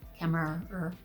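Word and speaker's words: Kemmerer: by Bridget kmer is how you say it kmer kmer kmer I'm very excited about this book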